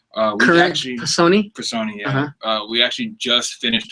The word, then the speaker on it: Personae: It's called Current Personi. Personi, yeah.